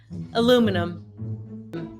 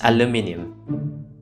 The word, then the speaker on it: aluminum: I pronounced it the correct way, aluminum. I just talked with a British guy, and he said to me like it's aluminium.